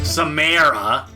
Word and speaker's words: Samara: Samara! Yeah, that's the correct pronunciation.